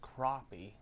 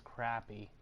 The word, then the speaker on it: crappie: I think it's actually pronounced crappie, but I think most people pronounce it as crappie because it's not spelled with an O, it's actually spelled with an A.